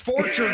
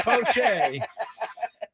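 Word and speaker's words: Faucher: Say it right. So Fauché. Okay, Fauché. He was the guy. It's Fauché.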